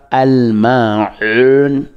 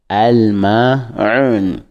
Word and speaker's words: Al-Ma'un: Nous avons déjà fait plusieurs, donc aujourd'hui nous allons passer par la sourate l'ustensile qui se prononce en arabe Al-Ma'un, Al-Ma'un, qui contient 7 versets